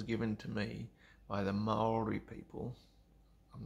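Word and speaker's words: Māori: But we say Maori. Maori, Maori. But they pronounce it more like Maori, and it rolls off the tongue so much better the way they can say it.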